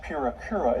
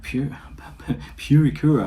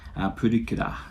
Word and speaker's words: Purikura: Do they have Purikura? I don't want to be that person who's like correcting pronunciation, but Purikura. Purikura is like print club.